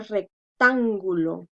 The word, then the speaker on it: rectángulo: Y también tenemos otra, la palabra rectángulo. Rectángulo. Entonces, última, penúltima, antepenúltima. Lleva tilde.